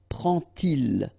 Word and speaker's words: prend-il: And so this little d here is in red just to show you that you won't pronounce it like d to make the liaison, but you will pronounce it like t. And so you will get prend-il, okay?